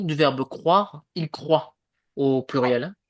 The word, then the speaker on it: croit: La prononciation du verbe croire, il croit au pluriel. Vous vous ne prononcez pas la fin. Oui. Je crois, tu crois, il croit.